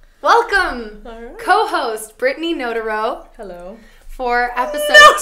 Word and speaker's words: Notaro: So we were like, is it Hamtaro? Notaro? Notaro. Notaro, Hamtaro. Okay, I got it.